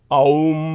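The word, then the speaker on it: Aum: uh om or rather the correct pronunciation is om like the Buddhist chant om that's where they get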